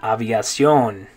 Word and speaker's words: aviación: Okay, the next one, in English you'd say aviation. But in Spanish it's going to be aviación. Aviación. Good, in English it's aviation. In Spanish you say, good, aviación.